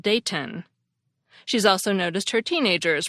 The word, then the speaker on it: Dayton: Ohio and says that people regularly pronounce the city as daen instead of Dayton she's also noticed her